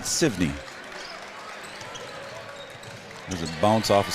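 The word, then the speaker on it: Sevigneny: It's spelled S-E-V-I-G-N-E-N-Y, and I was told to pronounce it Sivney.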